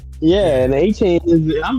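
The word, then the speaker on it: Etienne: That Yeah, he let everybody know that that's actually how you pronounce his name. It's not ETN, it's HN.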